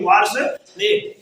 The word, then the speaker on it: वासुदेव: यहाँ लगा है उच्चारण होना चाहिए, वासुदेव, ठीक है ना, ने किया।